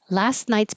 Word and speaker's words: last night's: Last last night's party was lit. Last night's. So you don't have to say this T at all. You can just skip it.